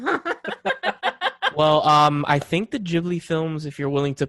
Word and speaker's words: Ghibli: I used to say Ghibli too, and then like people are like, "No, it's Ghibli."